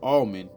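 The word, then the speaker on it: Allmon: This is spelled A L L M O N, but it's pronounced like the almond on a tree.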